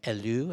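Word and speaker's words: Helleu: death by her husband as an artist named Alou and by pronounced H e ll EU and it he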